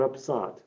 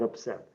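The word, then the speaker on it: upsot: you were maybe thinking what is upside well it's it's upset but made so that it rhymes with lot so it's the uh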